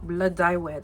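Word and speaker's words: Blodeuwedd: Anything else that I get from Blood Dye Wed. That's how you pronounce that. It's Welsh, and child, Welsh is, you might be British.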